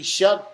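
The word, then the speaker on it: Shough: Shuck. It looks like show, Oh, S but H O U G H. it's pronounced Who Shuck.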